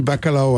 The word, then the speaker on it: bacalhau: Donc on va parler du bacalhau à Brás. C'est bien prononcé, là c'est le L est mouillé, c'est liao. Bacalhau.